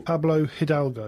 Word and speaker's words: Pablo Hidalgo: And this one is updated as an expanded edition by Pablo Hidalgo. Pablo Hidalgo, yeah. That's correct. You, Paul, you are the linguistic of names. I can never pronounce names.